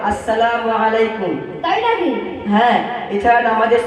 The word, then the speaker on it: আসসালামু আলাইকুম: যে আমায় সালাম দিয়েছ সালামু আলাইকুম এটা সঠিক উচ্চারণ নয় সঠিক উচ্চারণ করে পড়তে হবে আসসালামু আলাইকুম তাই নাকি হ্যাঁ এছাড়া